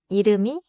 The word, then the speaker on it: 이름이: 받침 뒤에 소리 없는 이응으로 시작하는 음절이 오면 받침 소리를 다음 음절로 이어 읽어요. In English, if silent 이응 comes after a final consonant, pronounce that final consonant at the start of the next syllable.